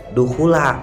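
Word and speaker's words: دخولَ: Nah, dukhul di situ juga bukan dukhuli tapi dukhula, membacanya dukhula bukan dukhuli.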